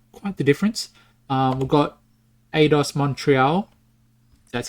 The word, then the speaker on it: Eidos Montreal: We've got Eidos Montreal.